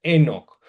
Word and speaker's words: Enoc: que es Enoc, que a veces se escribe con h, a veces lo escriben sin H. Lo importante es que se pronuncie Enoc, profeta de la tradición